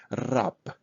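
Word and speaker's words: раб: Rab, rab. So we pronounce like practically p at the end.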